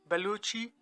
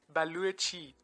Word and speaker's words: Balochi: where you live but the proper pronunciation is value a chi with a W in the middle even though Bellucci is